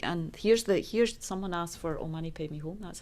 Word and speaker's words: Om Mani Padme Hum: And here's someone asked for Om Mani Padme Hum. That's how you say it. That's how you spell it.